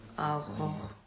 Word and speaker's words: Aurora: Oh, I mean, Aurora.